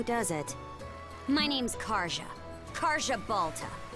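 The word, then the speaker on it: Karja: it my name's Kara Kara Balta I was expecting to be because don't don't Scandinavian countries usually pronounce the J as a y instead like yepo that's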